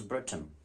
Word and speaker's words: Britain: it's retain that is Britain sword and sword retain and Britain mind the letter how it is written now Britain it exactly rhymes with written sword and sword are